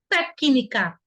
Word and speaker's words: técnica: O C não está acompanhado de uma vogal. O que a gente viu aí quando isso acontece é que esse Czinho, que é a consoante que está sem a vogal, ele fica na sílaba anterior. Mas percebam que existe o som de C, ó. Té, que, tem até um som com I desse C, técnica, ó, técnica. Se o C fosse mudo,